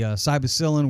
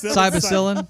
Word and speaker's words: psilocybin: on the show, his ayahuasca experience, also the psilocybin where he ate the magic mushrooms on the beach. Psilocybin. Psilocybin. How do you say it? Psilocybin. Yeah, how do you say Psilocybin. Psilocybin. Cybacillin.